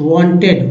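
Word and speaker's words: when: देखिए ली है only, वेन इसमें एच जो है साइलेंट है और ई एन को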